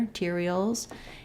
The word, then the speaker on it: materials: grade syllable gradable biodegradable materials stressed on the t syllable tear materials and containers stressed on